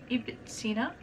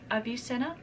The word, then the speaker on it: Ibn Sina: The first one, his Arabic name, pronounced in English, is Ibn Sina. His anglicized English word name would be Avicenna.